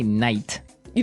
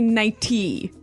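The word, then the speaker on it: nightie: but you don't say night you don't say nighty you say nighty yeah you you make the t a d nighty now she offered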